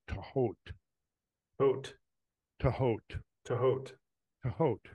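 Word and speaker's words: Thoth: She said that the presumed correct pronunciation, and I didn't know this until then, but it was is Tahot.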